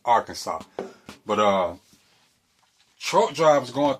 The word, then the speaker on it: Arkansas: Uh Arkansas is pronounced Arkansas.